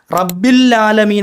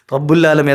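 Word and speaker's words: رب العالمين: റബ്ബുൽ ആലമീൻ യഥാർത്ഥത്തിൽ ആ റബ്ബുൽ ഐനാണ്. അവിടെ ഐനെന്ന അക്ഷരം മാറിയിട്ട് ലായ അയക്കണം. റബ്ബുൽ ആലമീൻ തെറ്റാണ്. റബ്ബിൽ ആലമീനാണ് യഥാർത്ഥത്തിൽ. റബ്ബിൽ ആലമീൻ യഥാർത്ഥത്തിൽ അവിടെ തെറ്റുന്നത് ആ ഐന് മാത്രമാണ്.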